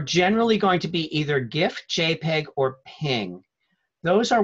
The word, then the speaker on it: GIF: standard formats now the gif stands for graphics interchange format sometimes it's pronounced jiff I usually say gif but some people say jiff it doesn't really matter